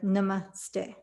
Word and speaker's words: namaste: actually pronounced more like namaste so the emphasis is on the second syllable by my indian family